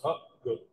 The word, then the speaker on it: Hopgood: Y la gente cree que como es húngaro, ruso, alemán, le ascriben muchas nacionalidades y es simplemente inglés, dos palabras sencillas en inglés.